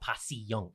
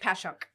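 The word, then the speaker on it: Passyunk: I always say it's two syllables, not three. It's not piunk, right? It's punk. Pashunk. Yeah, two syllables.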